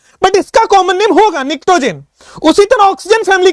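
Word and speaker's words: pnictogen: निक्टोजेन इसको बोलते हैं, पी साइलेंट है, निक्टोजेन, ठीक है।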